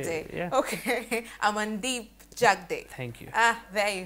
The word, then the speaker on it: Jagde: is actually very hard Jag it's fonetic Jag but how you write it and how you pronounce it it's very different I think it's the D that you're spelling as they jug the even day is fine okay jug day jug day jug day okay am